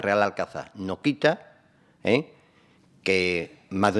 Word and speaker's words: Real Alcázar: hispana árabe Y ahora cuál es su pronunciación correcta real alcaza o reales alcázares real alcázar toda la pronunciación correcta es real alcanzar no quita que más